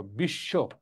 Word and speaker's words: বিশ্ব: এই যে বিশ্ব, বিশ্ব বফলার উচ্চারণ নয় কিন্তু তালিবাস উচ্চারণ দুইবার রয়েছে, বিশ্ব।